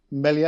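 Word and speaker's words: Meslier: Your keeper, Melier, is that how you pronounce it? Yes. Yeah. Yep, I love it.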